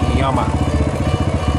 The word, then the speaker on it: llama: I guess in Spanish, the L in llama is not pronounced the hard way that we pronounce it. It's llama.